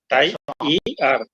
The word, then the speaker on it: tired: It's a one syllable word.